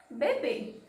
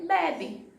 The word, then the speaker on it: bebê: Por exemplo, eu tenho a palavra bebê. Se não tivesse o acento no último B, eu poderia ler bebe.